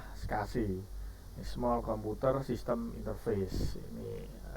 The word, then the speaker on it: SCSI: Hai Sedangkan untuk Hai saya itu bacanya sekasih ya bukan walaupun tulisannya scsi itu kebanyakan pada Hai Hah ranah teknis hai tuh biasanya menyebutnya dengan istilah sekasih small computer system interface